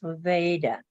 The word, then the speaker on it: Levada: A lot of people pronounce it like they do in Nevada. Well, they pronounce my name that way. But it's not. It's Levada.